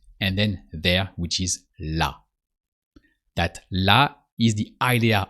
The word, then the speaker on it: là: There is là. It's not the same là as with her, but it sounds the same.